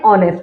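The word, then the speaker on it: honest: you right an ऑनेस्ट क्योंकि ऑनेस्ट आवाज निकल रही है ओ की यहां पे एच की नहीं निकल रही है एच समझे आप साइलेंट है समझे क्या हकीकत में साइलेंट है अब ओ जो है ओ से हम आवाज निकाल रहे हैं तो हमें इस ओ को देखना है एच को नहीं देखना तो इसलिए हमने एन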